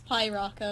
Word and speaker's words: Piraka: It's Piraka.